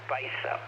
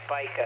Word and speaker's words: Spica: says spica uh because i mispronounced spica long ago like 10 years ago i mispronounced it as spice up it's spica and then he jabs